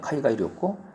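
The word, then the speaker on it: 海外旅行: 했는데 카이가이 료꼬 있죠 카이가이 료꼬 그러니까 료는 짧고 고가 길어요 카이가이 료꼬 이렇게 되는데 그것도 제가 이렇게 생각해놓고 항상 발음했었는데 뭐 또 지나다 보니까 또 까먹으면 또 하고 해가지고 해야죠.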